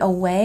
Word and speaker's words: away: And away has a stress on the second syllable.